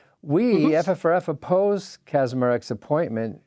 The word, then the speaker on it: Kacsmaryk: Kacsmaryk? Kacsmaryk.